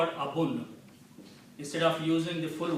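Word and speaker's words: أبو: So now this will be pronounced Abavu Lahabin. Okay? Waw is a weak letter. To pronounce it easy, we pronounce it Abu. Okay? So pronunciation of this word becomes Abu.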